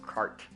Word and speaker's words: Quart: assassin such stealth boy named quart pronounced cart all right cart what